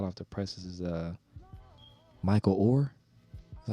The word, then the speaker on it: Oher: One thing that's been on my mind is like hot off the presses is Michael Oher.